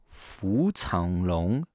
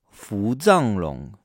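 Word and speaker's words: 伏藏龙: Le numéro 3, c'est le Fu Changlong, Fu Changlong, ou bien Fu Zhanglong, Fu Zhanglong. Il a deux prononciations parce que le deuxième caractère a deux prononciations.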